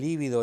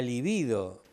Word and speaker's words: libido: O un sexólogo o una psicóloga que te dice, sí, porque no tiene desarrollado el líbido o la libido. No, es la libido.